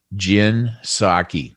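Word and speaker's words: Jen Psaki: and by the way her name is jin saki not s-a-k-i p-s-h are we sure that's how you pronounce it isaki i mean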